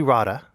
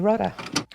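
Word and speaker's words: Rodda: fantasy book series by the Australian author Emily Rada or Rhoda Rada you know what let's look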